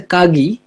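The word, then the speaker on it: かぎ: এই খাগিটা জাপানিজরা লেখে হচ্ছে খাগি। বাট বলে হচ্ছে খাগি। তো এই ক আর খ এর কথাটা আমি একবার বলছিলাম মনে হয় যে অনেক ক্ষেত্রেই জাপানে ক কে ওরা খ এর মত উচ্চারণ করে। এক্সাক্টলি ক আর খ এর মাঝামাঝি একটা উচ্চারণ। যেমন খাসা যেটাকে লেখার সময় লেখে কাছা যার মানে হচ্ছে ছাতা। আবার এই কাগি যেটা হচ্ছে খাগি।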